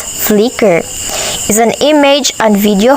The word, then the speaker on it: Flickr: Flickr, or pronounced as Flickr, is an image and video hosting website that was created by Ludicorp in 2004 and acquired by Yahoo.